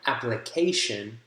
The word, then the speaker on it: application: syllable that gets stress so for example in application application app application that is your primary stress that syllable uh secondary stress would be stressed but not the most right second secondary would be in the first syllable application application app the